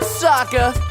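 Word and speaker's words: Sokka: was expected that's right I'm Saka it's pronounced with an AA young ladies I rocked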